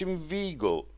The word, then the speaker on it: inveigle: Say inveigh, neigh, but inveigle, make the latter rhyme with eagle, mind.